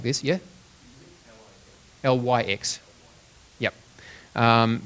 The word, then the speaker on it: LyX: is another form of writing like this yeah lyx yep um pronounced Li but L YX and it's capital